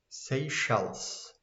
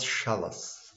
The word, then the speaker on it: Seychelles: How to read this one? Seychelles. Seychelles. Not Shells. Seychelles.